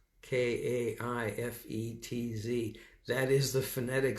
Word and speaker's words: Kaifetz: I'm going to give you the Hebrew pronunciation of that word. Delights is Kaifetz. Maybe Kaifetz. That's my last name. Kaifetz.